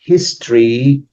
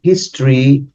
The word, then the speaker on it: history: funny thing is that history is history is an history which is for what the H is pronounced for sure and still is an